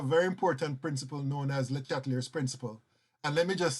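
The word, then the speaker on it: Le Chatelier: And let me just say that I know I'm mispronouncing Mr. LeChatelier's name because he's French. There's a French pronunciation which I think is LeChatelier or something like that. But I'm so used to pronouncing his name as LeChatelier, so please forgive me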